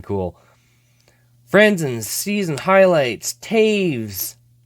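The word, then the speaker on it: Toews: friends in season highlights Taves or as some people I try to get them to say that especially people that don't know hockey very well say his name it's like toes yeah that's toes don't you forget it it's toast anyways carrying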